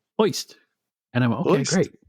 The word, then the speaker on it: Ojst: And they had his name OJST, and it's pronounced Oist.